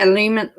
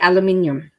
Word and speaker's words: aluminium: with my problem is so you say aluminum we say aluminium and cinnamon so we